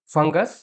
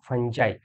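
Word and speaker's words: fungi: cactus থেকে হবে ক্যাটাই ফাঙ্গাস ইউএস আছে একে করব ফাঞজাই ফাঞজাই ফাঙ্গাই ফাঞজি ফাঙ্গি যেকোন একটা এর উচ্চারণ করা যেতে পারে আচ্ছা নিউক্লিয়াস ইস দিয়ে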